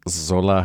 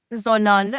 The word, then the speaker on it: Zolal: It's Zolal. Zolal has L at the end.